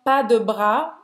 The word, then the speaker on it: pas de bras: Então, pas de bras, esse S eu vou pronunciar, não, né? Não. Pas de bras. Você nem vai pronunciar o S do pas, nem do bras.